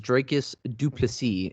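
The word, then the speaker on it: Dricus du Plessis: um trevin giles versus dracus duplici is how you pronounce the name he made a very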